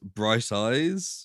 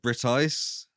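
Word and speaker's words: Briteise: bright something else so actually it's spelled b-r-i-t-e-i-s-e so it's like Brit ice right but it's just Bright Eyes do they say they're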